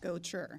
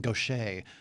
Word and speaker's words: Gotcher: Gotcher. Gotcher. Yes. Sure. You know, my wife and I have been debating your proper pronunciation of your name. She kept saying Gaucher. I'm like, no.